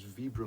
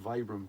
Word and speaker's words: Vibram: since the super endurance that is Vibram and not Vibram because it's it's to